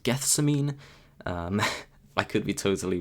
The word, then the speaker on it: Gethsemane: They've released a single, I think it's pronounced Gethsemane.